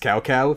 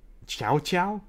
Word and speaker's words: Cao Cao: is the best name it's actually not even pronounced Cao Cao that's how they pronounced it in the games it's actually for as I understand it's closer to the South's ow did Chou Chou something like that tchau tchau tchau tchau